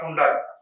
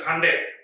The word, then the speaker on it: Hyundai: as Hyundai Motors, not Hyundai. That is the first learning that we should get it. So we need to understand that it is a Korean word. So like Sunday, so it is Hyundai.